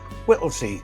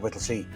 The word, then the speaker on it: Whittlesey: Whittley, spelled with S E Y at the end. However, if you were to arrive at the train station of Whittley, you might think that it's spelled differently.